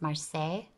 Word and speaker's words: Marseille: In Italy, we call it Marsilia. In France, I think the pronunciation is Marseille.